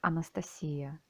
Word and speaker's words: Anastasia: our lord jesus christ my name is anastasia or you pronounce it in russian like anastasia i am a translator